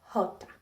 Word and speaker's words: jota: The Jota, on the other hand, sounds more like the English H. Jota.